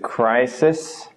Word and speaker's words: crisis: 2 is crisis because of the syllable ending with a vowel, crisis.